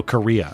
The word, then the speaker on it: Correia: New book recommendation, American Paladin by Larry Correia, if pronounced like the country. Oh, Korea, okay.